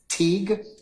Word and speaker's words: Teague: witness for tomorrow uh t t a g e t a t u g uh pronounce that for me te Teague yes okay all right Mr